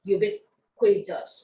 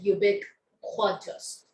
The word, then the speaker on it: ubiquitous: for us to learn ubiquitous or you can say ubiquitous so two ways of pronunciation this is the adverb